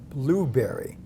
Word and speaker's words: Bluberi: here with Andrew Burke who is the CEO blueberry which is spelled b l u b r i for